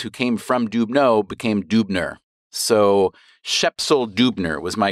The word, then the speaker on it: Dubner: So Dubner was more typically pronounced Dubner. Dubners were, my family came